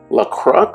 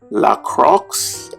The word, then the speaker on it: La Croix: this is a sparkling water that is called La Croix, I believe that's the pronunciation. I've been drinking this for a while now, and I still can't pronounce the name too well. La Croix, I think that's how you say it.